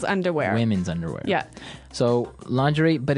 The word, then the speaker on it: lingerie: Now, the spelling of this word is interesting, isn't it? Yeah, it's spelled l i n g e r i e. Lingerie. Lingerie. Yes, don't you love English spellings?